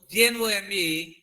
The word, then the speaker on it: gnome: సో ఇందులో GNOME gnome, ఇది G silent.